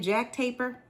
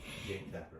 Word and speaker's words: Jake Tapper: Jack Taper. I may be saying his name wrong. He said it to him. He said I think the guy was from Germany. Jake Tapper.